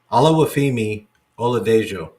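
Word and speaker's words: Oluwafemi Oladejo: Yeah, I'm not pronouncing it. Hold on. Let me find it. Olawafemi Oladejo.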